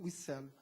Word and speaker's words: Wiesel: Na verdade, se pronuncia por esse judeu Wiesel.